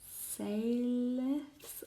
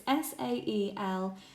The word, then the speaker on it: Saelethys: she is Crochet by Saeliths. Oh my gosh, I totally butchered that. It's Saelethys. I'm so sorry for mispronouncing that.